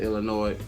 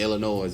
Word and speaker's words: Illinois: the weekend before that that the s is silent it uh for the state of illinois but uh it just